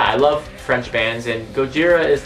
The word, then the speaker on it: Gojira: right now next up Gojira it's not racist that's how the Japanese pronounce it and these guys